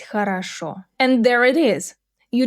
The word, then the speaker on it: хорошо: And хорошо, the stress is on the final syllable. Хорошо. And both are stressed or sound reduced to A.